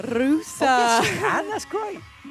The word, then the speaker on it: Russa: Can you roll your R's? I can try. Go on, give it a go. Rusa.